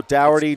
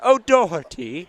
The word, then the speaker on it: Doherty: Oh, Dougherty, Doherty. No, it's not O'Doherty. It's Doherty. It's O'Doherty. It's Doherty. Doherty? Doherty. It's like one.